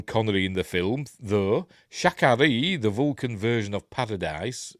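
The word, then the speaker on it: Sha Ka Ree: was named for him if you say it right it sounds like an abbreviated version of sha connory Shak Shan connory like shakar is that true or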